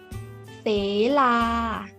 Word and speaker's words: เศลา: คำ แรก นะ คะ คำ นี้ อ่าน ว่า เส-ลา เศลา หมาย ถึง ภู เขา